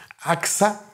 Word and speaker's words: Aqsa: Entonces ellos construyeron una mezquita, Aqsa. Algunos lo pronuncian Aska, pero yo leo A-Q-S-A.